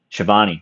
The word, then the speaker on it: Schiavone: I don't even know how to pronounce his last name. Schiavone, thank you.